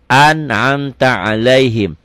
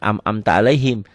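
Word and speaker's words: أَنْعَمْتَ عَلَيْهِمْ: Jadi an'amta alaihim. An'amta alaihim. Paling pakai Latin. Tapi di sini saya tahu kalau yang kayak gini ain. An'amta alaihim, bukan am'amta alaihim.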